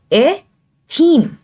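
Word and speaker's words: ethene: इसका नाम क्या हुआ एथीन। अब इसके बीच में क्या है ट्रिपल बॉन्ड है, तो इसका नाम हुआ एथाइन। समझ में आ गया आपको, यानी सिंगल बॉन्ड में एन की प्रोनाउंसिएशन आ रही है, डबल बॉन्ड में इन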